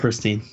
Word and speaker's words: Pristin: They got Pristine.